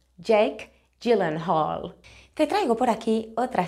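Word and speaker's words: Jake Gyllenhaal: lo tienes escrito y esto se pronuncia Jake gillen Hall Jake gillen Hall te traigo por aquí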